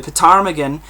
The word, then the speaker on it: ptarmigan: few years the montrose ale in 1990 the ptarmigan 85 shelling in 1991 the name of this